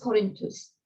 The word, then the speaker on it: Corinthus: Corinth, the town of Corinth, previously written as Corinthus, gets an H, so Corinthus, still pronounced Corinthus by the Romans.